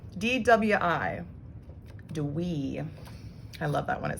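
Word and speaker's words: dwi: why are you watching this video okay two dwee d-w-i do we i love that one it sounds so funny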